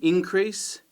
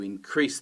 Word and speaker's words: increase: You talk about an increase, that's the noun, but you increase the volume, that's the verb, stress on the second syllable.